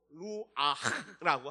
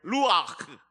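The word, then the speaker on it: רוח: 여러분이 안에 생기가 들어가야 돼요.이 생기는 이스라엘 말로 루아흐라고 합니다. 우리 한번 발음해 볼까요? 루아흐.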